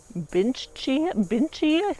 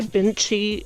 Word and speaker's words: Bintje: So this is a variety called Binchi, I think that's how you pronounce it. Jed. Why did I say Jed? Bintje.